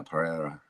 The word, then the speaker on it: Pereira: Oh, yeah, Pereira.